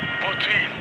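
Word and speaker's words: Boutil: Botil. Botil. Is it French? He's Moroccan, so Botil. it's an Arabic name.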